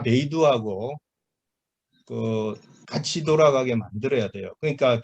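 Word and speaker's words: 北斗: 그래서 일단은 중국 제품들은 여기 우리가 북두 칠성할 때 그 북두가 이름 중국 발음으로 하면 베이두예요. 베이두 뭐 이렇게 얘기하는데 중국에서는 초기에는 그 우리나라처럼 로컬 시스템부터 먼저 운영을 했다가 작년인가 재작년은 아니구나.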